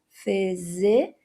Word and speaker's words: physician: Então fica fe, faz o som do Z, Z, mesma vogal do short I, physician. Terceira sílaba tem o SH, o schwa e o N. Physician.